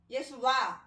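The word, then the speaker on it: ישועה: 여기서 구원은 히브리 말로 예수와 라고 이렇게 발음이 되는데, 이 말은 후에 여호수아, 또 여호수아에서 예수라는 말이 나오는데, 예수와의 그 뜻은 여호와가 구원하신다.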